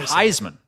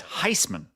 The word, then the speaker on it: Heisman: It's not It's not Heisman. It's Heisman. Hate it when he says Heisman. Cuz it's like he puts extra stink on the Heis.